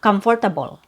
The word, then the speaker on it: comfortable: So that one is removed because it's so weak. So you don't hear it. So it's not comfortable. Not in English pronunciation. So, I just want to say this one more time that if you say basically dramatically comfortable, if that's how you say it, that's not wrong. It's just a different type of pronunciation and it's a different accent.